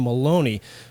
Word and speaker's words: Maloney: the show is Caroline Maloney pardon me I I almost uh mispronounced her last name with a b instead of an m a US Representative for